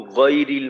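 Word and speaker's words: غير: আগ, এই যে উচ্চারণটা আমি করলাম, এইটা তো আসলে এখানে থাকার কথা না। উচ্চারণের শুরুটা হবে গয়রিল, গয়রিল।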